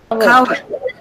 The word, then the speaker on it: coward: Coward. No, it is coward. Coward. And here the sound is k sound and it's in the initial position, so it is aspirated. Aspirated means with a puff of air.